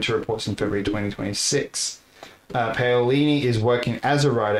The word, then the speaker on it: Paolini: How do you pronounce the author's name? It's Christopher Paolini.